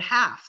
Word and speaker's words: half: that l is silent like in the word half the l is silent huh fassen i don't